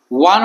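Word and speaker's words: one: ইয়াদ আমি যদি লক্ষ্য করো প্রথমতে কি আছে ওয়ান শব্দটার প্রথম আক্ষরটা আছে ভাওয়েল তো ভাওয়েল হলে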